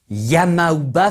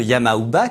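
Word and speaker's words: Yamauba: À cette époque, le nom de Yamaouba, qui signifie la vieille de la montagne, et se prononce également Yamamba, était synonyme de terreur.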